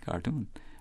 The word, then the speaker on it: cartoon: say as we fed carton rhyming with balloon of course that's the correct way we say balloon the word does imitates thus it vas imitates the Spanish stress on the last syllable cart on the other